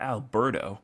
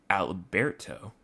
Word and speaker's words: Alberto: It's not Alberto, but it's Alberto. So it's not Alberto, it's Alberto. That's the proper way of how to say the name.